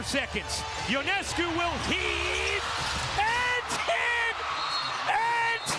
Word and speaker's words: Ionescu: Ionescu. Ionescu.